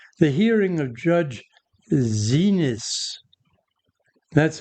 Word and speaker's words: Xinis: refusing compliance and D the hearing of Judge Zenis. That's how it's pronounced.